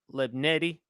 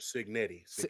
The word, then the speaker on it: Cignetti: But Kirk Lebnetti, how he has done. I'm sorry. I hope I'm pronouncing the name right. Kurt Cignetti.